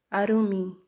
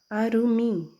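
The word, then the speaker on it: עֲרוּמִּים: que Adão e Eva, os dois, estavam nus, Arumim, como você pode perceber aqui a pronúncia. Vou trocar a cor aqui para destacar, tá? Aqui, ó, a pronúncia Arumim, Arumim, Arumim, plural, nus.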